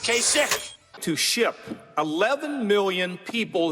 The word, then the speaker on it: Kasich: I don't know how you pronounce his name, Kasich. It's I-C-H. Every time I see it, I say Kasich, but it's pronounced Kasich.